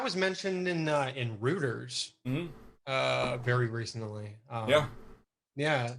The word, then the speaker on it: Reuters: wave of hacktivism and so many canadians say reuters yeah roto-rooter i know i know i know i've heard a lot of canadians pronounce it that way uh i believe down here we pronounce it reuters reuters yes what the is wrong with you people i mean that's how the company says it's pronounced i think it is